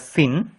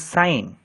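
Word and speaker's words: sine: you mean by sign please do not pronounce it as Sin it is sign sign is a trigonometric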